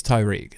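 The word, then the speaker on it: Tariq: It's Tyreek, literally.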